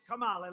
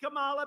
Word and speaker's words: Kamala: Kamala, like a comma.